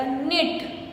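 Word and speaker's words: know: ये कुछ लोग, आप लोगों ने सुना होगा, देखा होगा, क्नो बोलते हैं इसको, लेकिन ये क्नो नहीं है, ये सिर्फ नो है।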